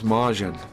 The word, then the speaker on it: Majin: it is but um in Japanese it's a j and it's Majin and Majin means a